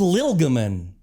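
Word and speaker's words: Llylgamyn: uh in Wizardry 123 how do you pronounce l Lam Li wait where did you learn to pronounce it like that you dence mother it's called Lil gaman okay thanks so much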